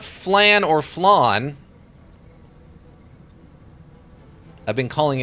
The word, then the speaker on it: flan: It looks like flan, but I think technically it's pronounced flan because it's a Spanish dish, right? Flan like lawn.